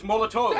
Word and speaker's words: Molotov: We've been saying it wrong this whole damn time. The canonical pronunciation is Molotov.